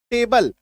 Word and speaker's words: table: टेबल है ना, टेबल का उच्चारण देखिए TAB, यहाँ पे तो चेबल होना चाहिए क्योंकि टी का उच्चारण कभी च हो रहा है, राइट, लेकिन यहाँ पे टेबल हो रहा है।